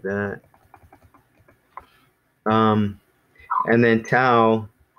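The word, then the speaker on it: ταυ: like that and then tau it's just kinda like when we say the word ouch like ow so tau that's that's this letter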